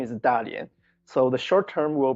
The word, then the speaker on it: Dalian: The pronunciation is Dalian.